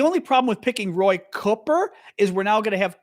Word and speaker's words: Cooper: you're wrong Google it his name is pronounced double O like foot the O is pronounced